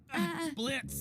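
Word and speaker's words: Blitzø: Blitz? The O is silent.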